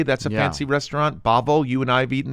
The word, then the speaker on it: Bavel: Wait, Babo. Bavel. Oh, Bavel. Oh, You're sorry. Weird at Is it really pronouncing Bavel?